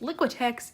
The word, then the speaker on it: Liquitex: it out liquid-liquid ticks yeah that's how it's pronounced liquitex iridescent medium this is a large jar of